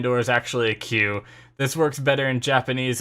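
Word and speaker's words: 九: door is actually a Q. This works better in Japanese, as the word 9 in Japanese is Q and is pronounced like the English letter.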